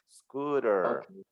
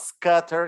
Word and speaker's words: scooter: it's scooter scooter so scooter is the ooh sound right scooter so it's not scatter it's not scotter it's scooter but so it depends on